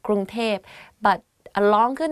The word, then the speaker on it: กรุงเทพ: กรุงเทพมหานคร Bangkok กรุงเทพมหานคร If you go to Thailand and you hear people talk about Bangkok, they will say กรุงเทพ because like conversation wise it's easier to pronounce like that กรุงเทพ but a longer name